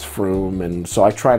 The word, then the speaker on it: Frome: fun of me and the way I pronounce, like, Frome, I say when it's Froome, and so I try not to pronounce too many English towns.